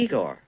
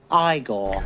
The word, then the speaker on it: Igor: You must be Igor. No, it's pronounced Igor. No, Igor, not Igor.